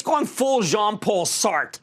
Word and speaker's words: Sartre: it's going full jean-paul Sartre you don't pronounce the re we're in a period